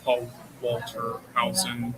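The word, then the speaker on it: Paul Walter Hauser: Um I uh my favorite actor in it though was Paul Walter Hson.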